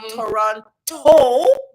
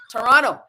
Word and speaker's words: Toronto: And Lo, and he says, Lo, remember the schwa. So it's not Toronto, but it's Toronto. It's Toronto. Let's say Toronto. Like we're not saying every syllable.